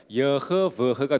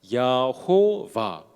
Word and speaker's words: 여호와: 자음을 이제 이루게 되는데 그 자음을 우리가 발음 그대로 해본다면 여허버허가 되겠죠. 거기에서 그 모음 부분을 히브리어로 또한 주님이란 뜻을 가지고 있는 아도나이를 붙여서 야호와, 그것이 지금 우리가 알고 있는 여호와 하나님의 이름이 된 겁니다.